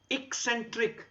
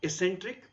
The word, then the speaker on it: eccentric: to tell the speaker it is eccentric not eccentric so if the word